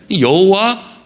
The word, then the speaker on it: 여호와: 여호와, 야훼, 이게 이제 발음이 비슷한 똑같은 단어인데 여호와로 읽느냐 야훼라고 읽느냐 요 차이예요.